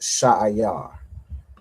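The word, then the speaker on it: שעיר: All right, it's pronounced Sha'ayar.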